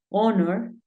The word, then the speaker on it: honor: J House home horse Pero hay algunos casos como cuatro palabras en las que la H es muda por ejemplo Hour que es hora tenemos eh honor y tenemos honest esas tres son las